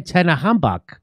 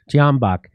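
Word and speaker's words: Tyahnybok: The C-14s was started as a youth wing of the Svoboda party founded by Ole Tenahambak. Is that how do you say his name, Max? Tianbach.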